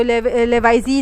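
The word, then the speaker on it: Lavoisier: तो oxygen theory भी कहलाती है ये वाली, जो लेवाइजी ने दिया था, ये फ्रेंच साइंटिस्ट है, इसका नाम इसी तरह प्रोनाउंस होगा।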